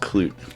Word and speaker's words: Clute: Clut, not Colt, but Clut. I think it's pronounced Clute. Clute.